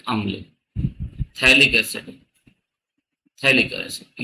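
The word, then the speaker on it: phthalic: तो इसको बोलते हैं थैलिक अम्ल थैलिक एसिड थैलिक एसिड ये भी पीए से स्टार्ट होता है तो पीएच टी एल आई सी [गला साफ़ करने की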